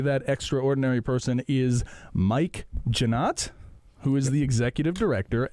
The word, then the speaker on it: Jeanotte: Frenchness of that name, Jeanotte. Do you get kind of people mispronouncing it a lot? Yes. Yeah. Is it commonly, you said maybe people say Jeanette. Everybody says more Jeanette, often.